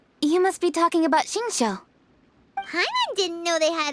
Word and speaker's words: Xingqiu: Is that how you pronounce his name? I thought it was Xingwei. I guess that's how you say Xingqiu's name.